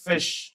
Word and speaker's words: fish: जो शब्द है इसमें एस एच जो है इसका साउंड आता है श का तो जब हम इसको हिंदी में बोलेंगे तो this will be pronounced as फिश कई बच्चे जो है इसको फिश फिश बोल देते हैं दैट इज रंग इट इज नॉट फिश इट इज फिश फिश जैसे कहीं पे कोई